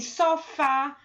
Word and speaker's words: sofá: Mas a gente tem sofá. Perceba que na palavra sofá, a última sílaba, que é o fá, que é a sílaba tônica e por isso ela é acentuada.